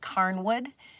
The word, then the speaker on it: Cairnwood: a place called The I want to say it right Carwood it's c a i r n wood estate and oh my